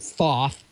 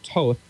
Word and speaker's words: Thoth: It's spelled Thoth. You don't pronounce it Thoth. It's Toth.